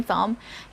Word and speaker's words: thumb: someone has a green thumb and another point for this one i would like to give an emphasis to the pronunciation of the word thumb again that is thumb and not thumb alright so what you see